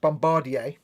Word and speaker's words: Bombardier: now so yeah uh peterburg says in canada it's pronounced bombardier which makes sense because it it's a french word oh yeah yeah it's